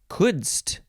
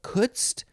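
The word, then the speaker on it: couldst: a few different ways next is kudzt kudzt k kutzt kutzt a few different ways it is could plus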